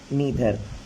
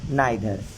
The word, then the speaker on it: neither: ठीक है, ईधर नीधर, इसको आप आइधर भी पढ़ सकते हैं, नीधर भी पढ़ सकते हैं। Both pronunciation are right. ठीक है, ईधर पढ़ें या नीधर पढ़ें। ईधर आइधर, नीधर नाइधर, ईच एवरीवन मैनी आ।